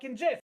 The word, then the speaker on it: GIF: I believe goddamn rder said GIF that's how you say it it's JF I don't care about two words can sound the same it's JF I thought Jeff was